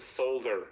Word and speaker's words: solder: For the longest time, I used to say salmon and solder. Like I didn't know how to pronounce salmon or solder. I always pronounced the L, and people in high school made fun of me.